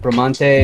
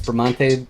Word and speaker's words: Bramante: I'd pronounce it Bramante. Is Bramante good?